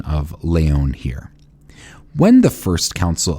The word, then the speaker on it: Lyon: L Yo NS, but I'm using the French pronunciation of Leyon here. When the first council of Leyon opened on June 28th,